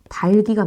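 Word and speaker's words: 닭이: 둘 다 실현 된다고요 닭기 아니에요 닭기 달기가 맞습니다 표준 발음 많 친구들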